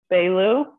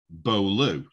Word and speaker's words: Beaulieu: okay i don't know because i look at that and think beau lu he's like be a like normally isn't it well bo b-a-u is a big sound around here so i thought